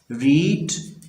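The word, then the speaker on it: read: आएगा, will he have रीड रेड यानी कि रीड की थर्ड फॉर्म रेड है, स्पेलिंग वही है, सिर्फ इसको प्रोनाउंस डिफरेंट करते हैं।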